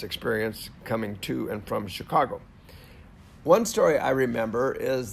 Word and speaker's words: Chicago: correct me and say it is not Chuggo, it happens to be Chicago.